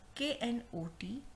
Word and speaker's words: knot: In last three words, letter K, the sound of K is silent. That means we are not going to pronounce K. Okay? So this K is silent in these three words.